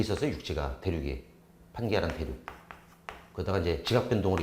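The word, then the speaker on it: Pangaea: 지금 여러분이 본 게 판게아인데 판게아라고 읽으시면 되는데 그리스어예요 사실 이게. 여기서 이 판도 사실 여기서도 아마 저기 같은 그리스어니까 모든이라는 뜻이고 가이아라고 읽을 수도 있거든요. 게아 또는 가이아 이렇게 읽을 수 있는데 왜 지구 대지를 갖다가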